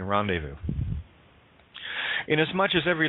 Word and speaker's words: rendezvous: Z is silent in rendezvous.